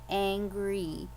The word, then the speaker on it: angry: have an a sound angry and the y is pronounced like a long e listen angry so two